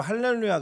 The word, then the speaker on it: 할렐루야: 히브리어 입니다 히브리어 서 히브리어 발음이 그대로 할렐루야 가 맞습니다 우리나라 한글의 위대함 이쪽에도